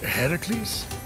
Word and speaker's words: Herakles: Heracles? Yeah, that. That is how it's supposed to be pronounced.